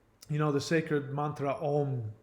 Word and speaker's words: Om: know the sacred mantra ohm which is actually pronounced Ong o that before that